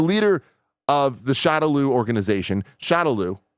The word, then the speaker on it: Shadaloo: The leader of the Shadaloo organization, Shadaloo, by the way, Shadaloo, sometimes pronounced Shadaloo, sometimes pronounced Shadaloo, sometimes pronounced Shadow Law.